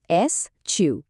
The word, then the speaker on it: eschew: এর উচ্চারণটা কিন্তু বেশ সোজা। এসউ।